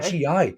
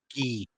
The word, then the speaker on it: gi: That's a karate GI, which sounds tough as fucking nails. Yeah, man. Red top and black pants. Earned my first black belt last year. It's a karate gi. It's pronounced gi.